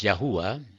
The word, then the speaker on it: Yahuwah: name yahuwah or yotebafe it is pronounced as yahuwah is our heavenly father jesus